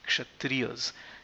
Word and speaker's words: Kshatriya: And the other unique tech which needs pronunciation is the Kshatriyas. It's a Ksha, Kshatriya. Kshatriyas, the S is just a plural, Kshatriyas and not Kshatriyas.